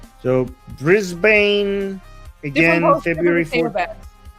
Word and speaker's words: Brisbane: Oh, apparently Armen, I just learned it's not Brisbane, it's Brisbane.